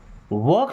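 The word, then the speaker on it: walk: वॉक slowly. वॉक देखिए L silent है।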